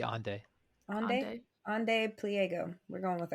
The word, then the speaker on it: Ande: It's like Ande. How would you say that? Because it's like not Andre. It's not Andy. To be Ande.